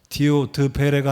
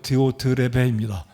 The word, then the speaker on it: 디오드레베: 예배를 마치니까 전도사님, 목사님 외람되지만 디오드베레가 아니고 디오드레베입니다.